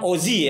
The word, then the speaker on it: Ozzie: Jadi ini kalau sebelah kiri saya, kiri gue pertama itu namanya, kalau ejaannya sih OZZY ya, betul? IE. OZZIE, tapi harusnya Ozi ya. Ozi, tapi ya secara lidah gue kampring.